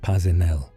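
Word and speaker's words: Paisnel: His name was Edward Pail, pronounced Pazinel.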